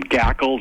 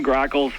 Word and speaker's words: grackles: That people call them gackles and gacklings, and even my own mother called them starlings for some reason. I don't understand, but those are common grackles.